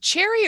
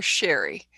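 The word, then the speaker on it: Cheri: c h r i is it cherry or Sherry the C well we got a thank you from her so how do you say that c h e r i it's I've heard it both ways okay so depends depends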